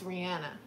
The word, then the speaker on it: Rihanna: I've actually learned recently that her name is actually pronounced Rihanna. I mean, Rihanna. I was about to say, what? See, I can't even say it right. My whole life I've been saying Rihanna, but it's Rihanna.